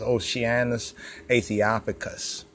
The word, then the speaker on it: Oceanus Æthiopicus: You know, the O and the C has a sh sound, right?